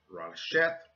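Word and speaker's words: רֵאשִׁית: This Hebrew word is pronounced Rasheth, and when you translate Rasheth into English, it translates to Rasheth, not the beginning.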